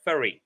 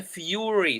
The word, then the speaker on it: fury: She is in a furry. Yes. Let me just check maybe the pronunciation of this word. She is in a fury. Sorry, I mispronounced it.